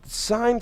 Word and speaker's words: sine: Now, it's pronounced sine, S-I-N-E. If you look on your calculator, if you have one of these calculators, it'll be abbreviated as just S-I-N.